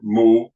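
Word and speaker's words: 木: So, for example, if you see this character, pronounced mu in Mandarin or mu in Cantonese, it basically means wood, but also in the old times, it was also used as tree.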